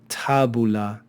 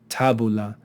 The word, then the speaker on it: tabula: be a short syllable here we have another short vowel followed by only one consonant so this will also be a short syllable tabula tabula two short syllables tabula okay so a syllable